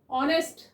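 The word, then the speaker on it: honest: Vowel की ए की ऑनेस्ट जैसे कि एच साइलेंट रहता है तो यह वर्ड भी साउंड किसकी दे रहा है?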